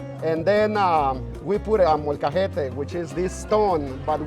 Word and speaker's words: molcajete: Now you're gonna have to help me pronounce this. Molcajete. Molcajete.